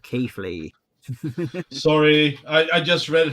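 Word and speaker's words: Keighley: The saying of Keithley, saying Kaylee instead of Keithley.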